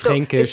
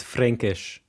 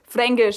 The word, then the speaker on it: Fränkisch: Yeah, so it's that's not just Fränkish, it's Fränkisch. Fränkisch. And then also they don't pronounce the K, they pronounce it like a G, as we just said too.